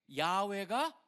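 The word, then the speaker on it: 야훼: 붙여 가지고 만든게 바로 여호와예요. 그러다 보니까 우리 성경에 다 여호와로 번역이 돼 있습니다. 우리 계신교 성경에. 근데 캐톨릭 같은데 야외로 돼 있고 실질적으로 학자들이 연구를해 보니까 야외가 더 원래의 발음에 가깝다라고 학자들이 보다 보니까 이제는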